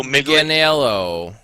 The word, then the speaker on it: Manganiello: Joe Manganiello. I can never pronounce There you go.